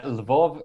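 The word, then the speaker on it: Lviv: you're from la viv which i think is usually said in the west as level is that right uh levov is a russian pronunciation and polish pronunciation but albanian pronunciation is leave with an eye okay good that's that's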